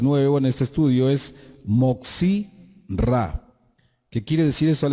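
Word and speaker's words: Motzi Ra: Un término que es nuevo en este estudio es Moxi Ra. ¿Qué quiere decir eso al español? El que difunde lo malo. Moxi Ra. Se escribe con M mayúscula, O, T, Z, I, separado, R, A.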